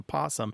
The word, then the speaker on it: possum: vow consonant where the it's easy to lose that o because that that first syllable is unstressed so that o defaults to awah or an O and it it just Falls away and it just turns into posum so that naturally happens